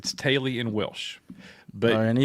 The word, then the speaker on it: Teulu: It's Teulu in Welsh.